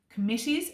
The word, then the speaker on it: committee: Biden would definitely have committees or groups of people now to help him do his big job of being the president of America. So coming back to the syllables, 3 syllables in committee, committee.